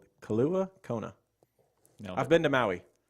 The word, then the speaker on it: Kailua Kona: I hope I pronounced your city right. Kailua Kona.